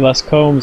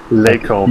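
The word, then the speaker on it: Les Combes: And also, just for for Anthony and for our viewers out there, a little French lesson: the S in Les Combs is silent. Les Combs, not Les Combs.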